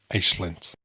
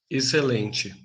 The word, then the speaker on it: excelente: For example, this word, meaning excellent, in European Portuguese, Excelente. Excelente. and in Brazilian Portuguese, Excelente. Excelente. Excelente. Another major difference in pronunciation involves the L sound in either language.